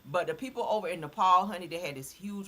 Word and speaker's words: Nepal: Okay, that's how you say it, Nepal.